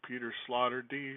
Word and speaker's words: Peter Sloterdijk: for a thinking system, like a bubble, like Peter Sloterdijk. Now I think that's how you pronounce it.